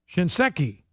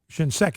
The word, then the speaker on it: Shinseki: Look, the problem with the VA is not Eric Shinseki.